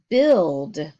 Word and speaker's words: build: the UI the next word is build well that's strange that doesn't make a u sound what sound does it